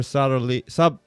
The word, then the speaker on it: subtly: Using lab-grown brain tissue, researchers uncovered complex patterns of neural signaling that differ subtly between Subtly. subtly. Silent. But it's weird. It's like SUBTLY. Yeah, the B is silent.